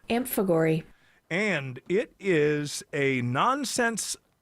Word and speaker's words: amphigory: you were told it was a noun it is spelled a m p h i g o r y amp Fagor and it is a nonsense verse a rigoll